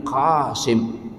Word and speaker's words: Qasim: kampus kita Sultan Syarif qasim Sultan Syarif qasim Ya kalau dalam pengucapan Indonesianya Sultan Syarif qim Kaf berubah jadi jadi ka n ini karena